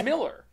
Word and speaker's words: Millar: what's funny is because Mark Millar it pronounces his name Miller see that's I always